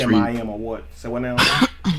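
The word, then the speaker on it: שָׁמַיִם: Shemayim would be actually that's how that's pronounced.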